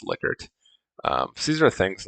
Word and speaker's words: Likert: Likert scale data, or technically I think it's pronounced Likert.